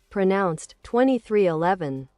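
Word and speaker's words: 23XI Racing: In 2020, he partnered with NBA legend Michael Jordan to create a new cup series organization, 2311 Racing, pronounced 2311.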